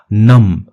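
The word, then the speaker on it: numb: completely पूरी तरह से नम ठीक है बी साइलेंट होता है नम का मतलब होता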